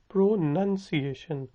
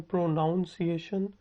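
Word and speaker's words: pronunciation: आपका तलफ़ुज़ कैसा है, हाउ is your प्रोनंसिएशन, हाउ is your प्रोनंसिएशन, प्रोनंसिएशन। लोग इसको गलत कहते हैं प्रोनाउंसिएशन। ठीक है, वो गलत है।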